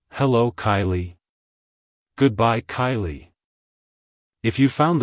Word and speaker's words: Kiley: origin it's pronounced as Kylie Kylie Kylie to pronounce it correctly emphasize the first syllable k i e and then lightly pronounce the second syllable Lee like hello Kylie goodbye Kylie if you